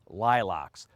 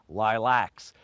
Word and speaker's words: lilacs: how to prune shrub lilocks well really I pronounced lilocks most of you are going to say lilacs but here is an